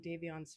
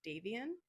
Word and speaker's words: DaVon: and DaVon's family as I do pronounce his name a few times at the beginning of the video as Davien and I want to set it straight that it is not Dave, it is DaVon.